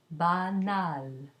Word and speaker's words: banal: Add a vowel to it, and it becomes an oral A with an N. For example, banal, ba, a, not nasal, banal.